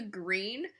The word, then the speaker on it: Gruene: So it's at this place called The Green, but it's spelled Gruene.